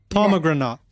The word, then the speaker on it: pomegranate: Pomegranate. Pomegranate. Oh, pomegranate on the first syllable.